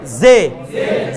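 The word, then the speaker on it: ژ: এটার মধ্যে জে এবং শিন এটা বাতাস লাগবে, জে, এই সে না, জে। অনেকে কি উচ্চারণ করবে? জে, অনেকে বলবে জে, জে নয় এটা, অনেকে বলবে সে, সেও না, জে।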